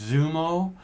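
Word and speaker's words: Xumo: is called i think it's i think it's pronounced zumo which is x-u-m-o and it's free on the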